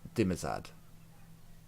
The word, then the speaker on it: Dimazad: His name is Dimazad. Dimazad, okay. Can you spell that? I've probably read it wrong, but it is Dimzad.